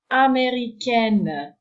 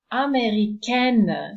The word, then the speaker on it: américaine: So this combination of letters is also pronounced as a nasal sound, américain, and the feminine is américaine, so no longer a nasal, and the N is pronounced at the end.